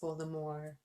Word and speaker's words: Voldemort: someone by the name of Voldemort yes properly pronounced Voldemort Voldemort sh really didn't tell us that all